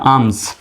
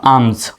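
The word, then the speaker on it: alms: এস এস হলো consonant সুতরাং এখানেও এল এর উচ্চারণটা হবে না সুতরাং এ তে হলো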